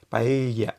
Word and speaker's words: paella: Entonces, es cercana, creo que la elle, no sé cómo explicarlo, pero yo creo que es cercana a la Y, pero empezando con la lengua como si fuera una L, ¿no?